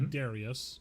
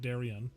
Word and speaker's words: Darius: I think it's the I do want to say his name is definitely Darius, not Darien.